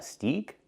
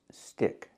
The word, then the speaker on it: stick: The word is not pronounced steak. It's pronounced stick. This is a stick. Or better, this is a twig. It's a small stick from a tree. In both words, we have to use the short I sound like this is.